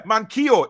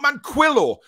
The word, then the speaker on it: Manquillo: friend ekiteke shut up thomas need to start pronouncing mankyo right yeah mankio is how it's said mankio not manquillo yes you do danielle